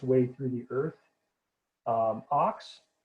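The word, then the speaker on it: Ochs: Ox, which is spelled differently, but sounds the same as ox in English.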